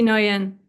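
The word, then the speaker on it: Nguyen: name many, many times, but how do you pronounce the name? C T Noian.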